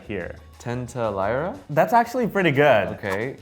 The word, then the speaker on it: tentalaria: Tenta lyra? That's actually pretty good. Okay. It's called tintalaira.